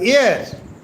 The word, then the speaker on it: heir: Now H E I R the pronunciation is not here but here air here.